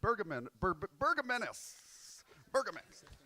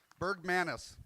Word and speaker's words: Bergmanis: Guest of Robert O'Brien, say hello to Tristan Bergamanis. Hey, Trevor. Bergmanis. There we go. I added an extra syllable.